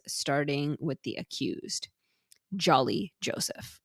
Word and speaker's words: Jolly: also discussed Julie so they also pronounce it a little bit different it's not like Jolly like it's not a big o sound so I was trying